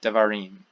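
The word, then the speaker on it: דברים: So instead of davar, we get davarim, because again, Hebrew wants to get to and stress this final syllable most of the time.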